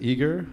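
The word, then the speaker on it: Ægir: eager I pronounce that eager there are various pronunciations out there and French I call it agile but it's valid a eg Irae grr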